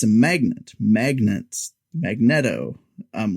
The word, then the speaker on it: Magneto: There's a constant running gag of how do you pronounce Magneto? Is it Magneto because it's a magnet, or is it Magneto? Now, the movies have told us it's Magneto. However, yes, I always thought